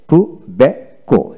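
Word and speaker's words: tobacco: তারপর আসেন তো বে কো, টু বে কো, এখানে টিউ টু বি এ সিও, টোবাকো, টোবাকো।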